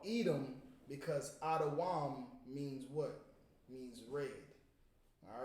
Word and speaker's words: Edom: Edom is Adawam. Adawam. All right, that's how you say Edom. It's Da Wam.